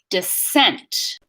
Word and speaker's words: descent: So stress pattern on the second syllable, descent, descent.